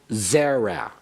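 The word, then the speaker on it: זֶרַע: They're accented on the first syllable, but they do not have two segols. For example, zera is considered a segolate noun, although it only has one segol.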